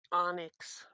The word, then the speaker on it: Onyx: Onyx. This is how you pronounce it in British.